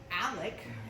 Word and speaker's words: ALEC: ALEC, as it's pronounced, is a think tank of very, very conservative lawmakers who write model legislation for legislatures to then edit and pass.